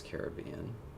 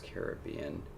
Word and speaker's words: Caribbean: So received pronunciation is Caribbean, General American is Caribbean, and the alternate is Caribbean.